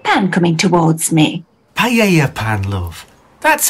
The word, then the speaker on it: paella: home the last thing i remember was a piela pan coming towards me paella pan love that's how it's pronounced really well i never knew that oh